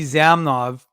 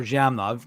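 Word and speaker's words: Zhamnov: 28th anniversary of Alexi zamnov or jamnav depending on your preferred uh pronunciation scoring his 20th goal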